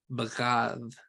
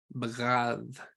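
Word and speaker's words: בגד: But to treat or to deal faithlessly or treacherously is bagad. Bagad. Now that is a mouthful. This is using 2 non-plosives there at the end.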